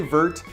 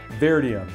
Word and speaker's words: Vertium: shadows of the complex I always pronounce that wrong I want to say Bert but it's bear diem shadows of the complex